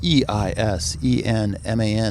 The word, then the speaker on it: Eisenman: And my last name is spelled E-I-S-E-N-M-A-N.